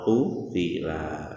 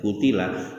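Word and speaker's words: قُتِلَ: Jadi terkait bacaan qatala napa qutila. Kalau bapak ibu membaca dengan qutila juga dibenarkan, boleh membaca qutila, nggih. Tetapi ulama-ulama yang muktabar membacanya qatala dengan panjang ya.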